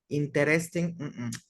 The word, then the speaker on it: interesting: Vamos a omitir la E que está entre la T y la R. Interesting. La omitimos esa E y nada más pronunciamos TR.